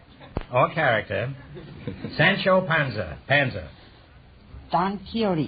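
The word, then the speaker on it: Don Quixote: is the character or character Sancho Panza Panza don keyote don keyote is right until I was until I was 40 years old I pronounced that D quick quy and I have $18.25 I prefer nqu squi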